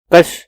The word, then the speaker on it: کش: معنی بدل جائیں گے۔ کش کاف پر زبر، کھینچنے یا کھینچنے والے کو کہتے ہیں۔ یہ لفظ فارسی الاصل